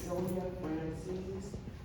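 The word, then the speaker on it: Celia Francies: next our next speaker is I believe this sayia Frances forgive me I pronouncing your name correctly thank you again my name is syia Frances c e l i a last name is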